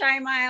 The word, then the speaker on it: Shaimaa: So my name is Shaimaa. It's pronounced like someone who's shy than MA, but clearly I'm not shy.